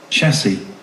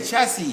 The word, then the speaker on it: chassis: it's just chassis and the plural of chassis is the same spelling except that that same spelling would now sound said listen this is the plural same spelling is the plural listen chassis chassis you hear they said at the end chassis the same with the